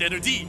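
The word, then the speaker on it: Ener-D: I was talking about I call it en D get it it rhymes with energy and the D is for dueling so you get the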